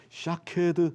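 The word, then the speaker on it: שָׁקֵד: 히브리어로요, 샤케드 하게 되면은 살구나무 가지예요. 근데 똑같은 자음을 쓰는데 발음상 비슷한 것이 뭐냐면 쇼케드라는 말이 있어요.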